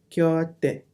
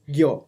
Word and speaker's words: 곁: 곁에, Kyote. 곁에, Gyo. 곁에. Okay, it's K but it's Gyo. It's not Kyo.